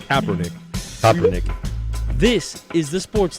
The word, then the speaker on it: Kaepernick: it what I backl Kaepernick Kaepernick come on Kaepernick Kaepernick that's not too bad it's not copper but it's Kaepernick cernick this is the